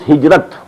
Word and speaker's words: hijrah: I said, at some time in my discussion that I'll explain the word hijrah also. Hijrah, which we in Urdu pronounce hijrat.